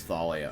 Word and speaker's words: Thalia: I think I butchered her name in the beginning then. Her name's Thalia, okay.